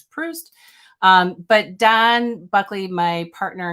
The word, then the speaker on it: Proust: It's not Proust, it's Proust.